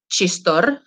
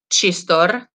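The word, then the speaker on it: txistorra: then here you have chistor so chistor this is like a ch sound uh chistora is a type of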